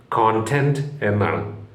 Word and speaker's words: content: English ഉച്ചാരണം എന്താണെന്ന് നോക്കാം ആ വാക്കിന്റെ ഇംഗ്ലീഷ് വാക്കിന്റെ ഉച്ചാരണം കോണ്ടെന്റ് എന്നാണ് കോണ്ടെന്റ് ഇതാണ് അതിന്റെ ഇംഗ്ലീഷ് ഉച്ചാരണം കോണ്ടെന്റ് അവിടെ ഉണ്ട എന്നല്ല ചെണ്ടയുടെ ഉണ്ട ശരിക്കും മലയാള ശബ്ദമാണത് മലയാള